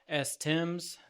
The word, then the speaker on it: Timbs: You can reach out to Lieutenant Stephen Timbs at Timbs, the B is silent, so it's STIMBS at tegaksc.gov.